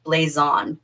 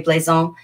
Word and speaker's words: blazon: spelled with an s so like blaze on b-l-a-z-o-n in the french you probably would say bleison and what a blazon